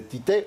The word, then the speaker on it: Tite: Así es, así estaban las palabras de Tite, o Titi como le dicen en Brasil, la pronunciación ahí del técnico del equipo pentacampeón del mundo.